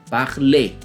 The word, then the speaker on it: parler: Começando pelos verbos terminados em ER, que na pronúncia vai ser E, como o próprio verbo falar que você já viu, parler. Não é parler e nem parler. Esse som de R não se ouve, ok? Mais ou menos como a